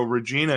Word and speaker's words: Regina: in one of our Prairie Provinces and so Regina is the way most people pronounce that right I want to answer this